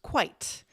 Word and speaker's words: quite: This is pronounced quite. So this one has one syllable and it rhymes with single syllable words like night or right.